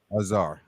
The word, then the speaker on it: Azar: right so yeah and the last name Azar Azar okay that's all I know I'm gonna pronouncing the last name correctly yes because listen